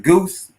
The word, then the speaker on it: Gauss: Now, with the company, I guess it's called Gauss. This Gauss Publishing, is that correct? I pronounce it Goose, but it's just growing Goose.